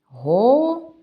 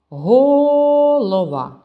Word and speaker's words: голова: складів так само три голова А куди припадає наш наголос голова Ні не так голова так само не те голова наголос падає на звук а тому у схемі ми